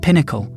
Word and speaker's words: PNaCl: To fix this, Google introduced portable native client or PNAC, pronounced pinnacle.